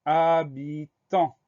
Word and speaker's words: habitant: Alors, le mot habitant, il commence par une lettre muette, un H. Donc on pense bien à mettre ce H au début de habitant. Le début du mot H-A, ensuite on a la syllabe bi, BI, et on finit avec la syllabe tant, T-A-N-T. Le son en s'écrit A-N, et à la fin du mot, il y a un T muet, un T qu'on va